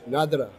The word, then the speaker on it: Nadurra: is a favorite of mine it's called nadareh pronounced in scholarships nadira nadiya is a Scottish word which means natural